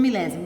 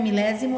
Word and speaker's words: milésimo: Lembrando que a palavra décimo se escreve com C, centésimo e milésimo é com S, que faz o som de Z, né? Mas é S.